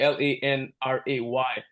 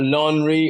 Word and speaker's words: Lanre: But it's Lanre, pronounced Lanre, meaning like you can pronounce it Lanray. That's how I tell people to pronounce it, actually. But yeah, not laundry or laundry, Lanre.